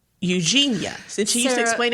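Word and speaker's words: Eugenie: another another Royal Wedding happening yes um princess Eugene okay it's not Eugene is it and it's pronounced like Eugenia right it is pronounced like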